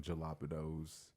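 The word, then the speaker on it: jalapeños: You pronounce every letter of the word exactly as it is. It's supposed to be pronounced as fucking jalapenos.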